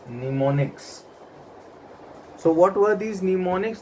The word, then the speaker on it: mnemonics: This M is silent in this, so it is pronounced as mnemonics.